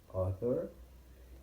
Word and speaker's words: author: So you can see that the author is pronounced as AU, and instead of a T you will pronounce it as a D, author.